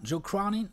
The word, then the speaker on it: Joe Cronin: C'est quand je pense à Joe Cronin. Ah ouais? C'est comme ça qu'on prononce, non? Joe Cronin? Ouais, tout à fait.